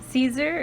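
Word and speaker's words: Siser: remember by the time I'm done with this Caesar is how it's pronounced but it's written it's spelled that's the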